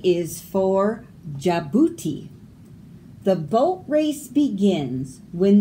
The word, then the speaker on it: Djibouti: Handkerchief, bridge, Djibouti. Silent D's in those words, but you have to spell it with it in there or it's spelled wrong.